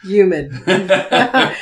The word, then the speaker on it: humid: I know, no H pronunciation. Our Northeast listeners are like... humid.